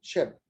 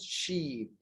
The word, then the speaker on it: ship: The second, ship. Right, it's not sheep. So here is ship. The vowel sound is very short, but in sheep, here is long, she, long E.